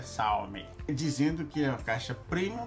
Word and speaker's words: Xiaomi: de uma caixa Premium da xiaomi Salve a pronúncia correta é Salve dizendo que a caixa primo da xiaomi e